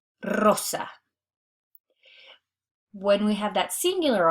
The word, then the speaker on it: rosa: Anytime in Spanish that we have the double R or that we begin a word with a singular R, it's going to be pronounced as r, that trilled R. So that's why we're pronounced perro, rosa.